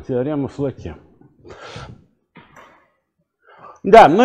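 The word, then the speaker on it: Флоке: Итак, утверждение номер два, оно уже известно под названием «Теорема Флаке». Это я ударение просто, чтобы правильное было. Теорема Флаке.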